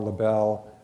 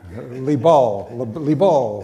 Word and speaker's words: Liebl: Liebl, I'm going to get it wrong. Liebl.